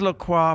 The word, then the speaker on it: LaCroix: it says how is Lacroix pronounced Lacroix rhymes with enjoy I am sorry I'm